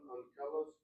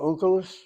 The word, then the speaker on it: Onkelos: You said Targum on Kalos, the Aramaic. Is that the translation or is that the commentary? Are you talking about Onkelos?